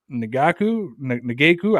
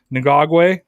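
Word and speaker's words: Ngakoue: I mean, look, I'm just gonna say Yannick because I always say Nagaku. I always say his name wrong and get laughed at. Ngagwe. There you go.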